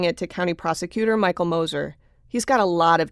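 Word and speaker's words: Gmoser: Moser, that's spelled G-M-O-S-E-R, but the G is silent, was one of two attorneys back in 1978 who tried Bob Young.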